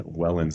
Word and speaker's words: Wellens: We've got Wellins on today. Did I pronounce that right? Yep, that's correct. you Wellins on.